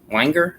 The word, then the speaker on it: Weinger: voiced by scott wenger i think his name is pronounced weinger that is correct for two